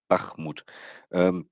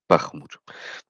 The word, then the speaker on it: Bakhmut: it's in Eastern European, so it's Bakhmut. At least my Russian teacher taught me so. So it could be the Ukrainians pronounce a little bit different, but this is the basic thing how you most likely pronounce this. Bakhmut. Bach. I can't do that. Bach. I can't roll the W's. It's a little bit like the German ch, but with a little bit more yeah.